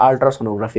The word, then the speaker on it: আল্ট্রাসোনোগ্রাফি: আল্ট্রাসোনোগ্রাফিতে এটা হচ্ছে গিয়ে মানে অনেকে একটু ভুল উচ্চারণ করো, এটা হচ্ছে গিয়ে আল্ট্রাসোনোগ্রাফি হবে।